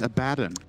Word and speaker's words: Abaddon: Abaddon not level 6. Good. But he will be shortly. You said Abaddon again. It's Abaddon.